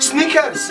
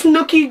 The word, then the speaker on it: Snooki: cray there a problem so so funny listen sneakers SN sneaker don't make her talk when I make her finish you don't understand not mispronounce my name it's Snookie John how is he going to disrespect me